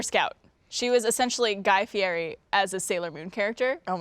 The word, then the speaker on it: Fieri: He's like Guy Fieri, who like, if you call him Guy Fieri, he's like, it's Fieri.